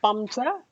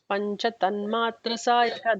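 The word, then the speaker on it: पञ्चतन्मात्रसायका: It's not pamsa. It's panchas. No, sorry, pancha tanmatra sayaka. That's how it'll come.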